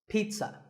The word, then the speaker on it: pizza: today I had this pizza really I did it's not a pizza and it's not a pizza there's no z sound in this word it's Peta Pizza another food word that's